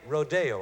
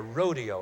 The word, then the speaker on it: Rodeo: Now, the great American composer Aaron Copland has borrowed this sound in his ballet Rodeo, or Rodeo, I guess you pronounce it.